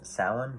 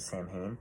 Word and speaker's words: Samhain: he says same thing you actually were supposed to pronounce salon but in the movies they pronounced samhain and then he just